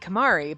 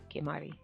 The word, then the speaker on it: Kemari: The two were still awkward when we played Kamari, but they seem to be back to normal now. Kemari. But we just, like, say it the white way. I can't say it properly anyway.